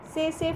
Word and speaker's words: tsetse: biting of an infected tsetse fly. The T is silent here, sorry, tsetse fly.